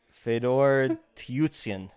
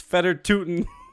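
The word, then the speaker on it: Fedor Tyutin: tell you that much Fedor tutsian it's feder tootin see I tried to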